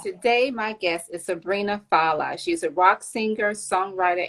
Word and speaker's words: Fallah: introduce you properly and give me the right pronunciation of your last name all right today my guest is sabrina fala she's a rock singer songwriter and guitarist all